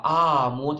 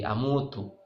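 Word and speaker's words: أموت: Ya, cuma jangan salah baca, jangan begini bismika Allahumma ahya wa bismika amut, itu salah. Harusnya A-nya pendek, sama dengan ahya. Bismikallahumma ahya wa amut. Yang panjangnya mut.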